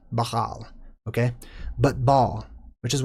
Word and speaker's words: Baal: named Baal or pronounced Bahal. Bahal. It's more of a guttural. It's a buh and then hal. Bahal, okay?